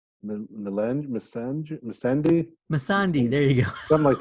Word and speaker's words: Missandei: I want to say her name's Dasani, but I know that's water. No, it's Missandei.